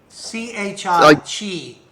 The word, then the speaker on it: chi: a she point uh it's not pronounced key is it c-h-i-g yeah thank you oh